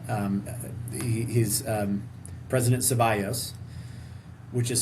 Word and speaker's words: Zeballos: Um he he's um President Zeballos, which is spelled Z E B A L L O S.